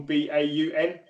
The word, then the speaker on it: Baun: I believe we pronounced it Baun. B-A-U-N. Yep. No, like Braun, but without the R.